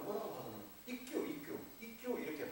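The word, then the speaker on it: 一休: ikkyu 이렇게 발음해요.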